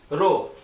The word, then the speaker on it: rho: is Sigma n by a here Sigma is pronounced row this column row Bookman is directly proportional to